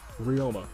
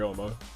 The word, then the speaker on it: Ouma: window Toriyama slab okay I've been pronouncing our rival the whole time Ryoma sorry Bri Ouma r.i.p in peace but